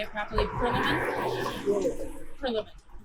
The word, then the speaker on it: Prillaman: Grant, would you pronounce your last name so I say it properly? Prillaman? Prillaman.